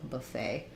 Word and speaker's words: buffet: Buffet um so Buffet another French one second syllable stress letter e says the a vowel and the t is silent and then we have the first syllable has our schwa so Buffet so eating at the